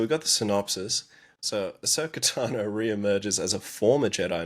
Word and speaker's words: Ahsoka Tano: Do you notice how they say her name like just one word? Ahsoka Tano. There's no break there.